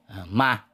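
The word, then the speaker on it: 吗: Ma thì cái phiên âm là mơ a ma, cái chữ m thì đọc là mơ, chữ a thì cũng a thì mơ a ma. Đó là cái phiên âm của tiếng Quan Thoại.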